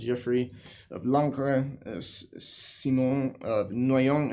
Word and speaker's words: Geoffrey: So, among the prelates were Geoffrey, and that's pronounced Geoffrey, of Langres, Simon of Noyon, and Arnold of Lisieux.